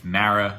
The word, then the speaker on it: Marra: It's Marra, like marinara sauce.